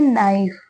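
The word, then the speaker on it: knife: word है यह है नाइफ नाइफ में के साइलेंट होता है ठीक है नाइफ का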